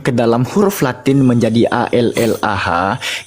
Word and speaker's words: Allah: dalam huruf latin menjadi a l l a h itu tetap pembacaannya mengikuti kaidah bahasa Arab bertafkim dia ditebalkan pengucapannya anda tahu enggak arti Allah